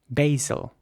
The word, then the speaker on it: basil: And in American English, it would be pronounced basil with an A sound. Basil. Here's an example of the British pronunciation for you.